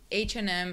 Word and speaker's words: H&M: country I think so I know in Romania for example some people say hash andm um because yeah yeah okay H&M in English so if you want